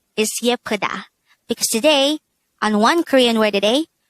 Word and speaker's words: 예쁘다: Yeppeuda. Yeppeuda. This is pronounced as a three-syllable word. The first syllable is ye, the second syllable is p, the third syllable is da.